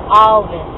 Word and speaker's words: Alvis: Some people say Alvis, then it sounds like Elvis, then. Alvis. We say Alvis. Alvis. Alvis. But the correct word to say is Alvis. Alvis. You have to pronounce the L.